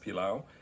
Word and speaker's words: pelau: we're going to do palau okay it's pronounced pilau and you spell it p-e-l-a-u it's a caribbean dish or